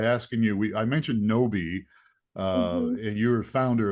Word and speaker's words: Gnowbe: start off by asking you we I mentioned noi uh and you're a founder of that and the CEO what is noi it's a great great question so first of